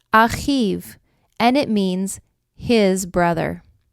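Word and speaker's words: אחיו: When we add yud vav to the end of the Hebrew word ach, we pronounce it achiv, and it means his brother.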